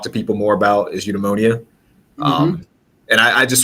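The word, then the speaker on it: eudaimonia: lot of practice with it um it's uh eudemonia okay um yeah basically it just means it's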